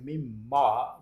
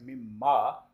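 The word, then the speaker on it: مِمَّ: Similarly, mimma is basically min ma. Min means from, ma what. So mimma, when we combine it, we read it like mimma. We say it like mimma.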